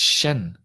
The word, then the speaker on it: Shen: And I think I've just realized that it's not Chen, is it? It's Shen.